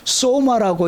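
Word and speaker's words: σῶμα: 이것은 소마라고 읽습니다.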